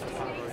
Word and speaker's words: Conroe: I thought it was Conroe when I first looked. Is that pronunciation? Yeah, it's Conroe. Yeah, it sounds like it's going to be fun and it should be a cool event.